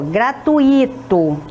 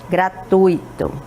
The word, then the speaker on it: gratuito: o correto é rubrica temos outro aqui ó gratuito Está correto essa pronúncia não está correta o correto seria gratuito não é isso então temos aqui olha o